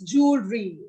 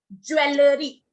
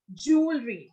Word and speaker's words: jewelry: For pronunciation B. So you all are wrong. It's jewelry. Okay. It's jewelry word is there. Okay. We say jewelry. We won't say jewelry. We say jewelry.